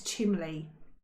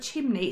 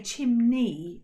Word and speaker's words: chimney: My whole life I thought it was chimley. Why did I think that? It hasn't even got an L in it. Where did that come from? No. And to this and even now I have to think in it. Yeah. But I have to think before I say the word chimney. It sounds unnatural to me to say chimney and not chimley.